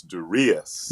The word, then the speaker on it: Darius: Actually, the emphasis is on the re, so it's Darius.